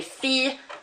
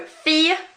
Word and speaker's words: fille: So fille rather than fille, famille rather than famille, and gentil rather than gentille. We are not pronouncing those L's outright. So that I-double-L-E is more of an E sound rather than an il.